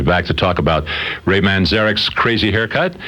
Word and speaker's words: Manzarek: No, well, I pronounce it Manzarek.